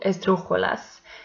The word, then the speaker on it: esdrújula: Let's go now to esdrújulas. Esdrújulas always have accent mark. So let's see the examples. Médico. The antepenultimate syllable is the stressed one, and by that is esdrújula, so it has accent mark.